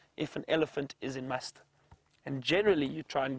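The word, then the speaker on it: musth: when they are in a stage known as must which is spelled m s t h and apparently an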